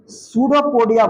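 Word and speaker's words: pseudopodia: इसी का दूसरा नाम है कुट पाक इसको सूडो पडिया बोलते है क्या बोलते इंग्लिश में सुडो पडिया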